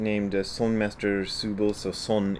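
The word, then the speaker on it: 선: sun master subal so son is how the koreans pronounce the same character that the japanese pronounce zen and that the chinese pronounce chan that's a son in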